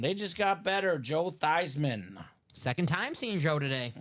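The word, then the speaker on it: Theismann: staff says Hey Joe let's change the pronunciation of your name to thyman so it can be thyman for the Heisman the Heisman did not come but the name stuck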